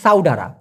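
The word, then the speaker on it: saudara: ভাই সাধারণত হওয়া উচিত সাউডারা, সাউ ডা রা, উচ্চারণটা হবে সাউ ডারা।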